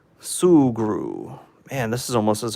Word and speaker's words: Sugru: talked me into getting the sugru or however you pronounce it so I just got a notification from Amazon that it's shipped out oh come on oh come on sugru okay sugru let me get that off the screen here thank you for the pronunciation a correction sugru and this is almost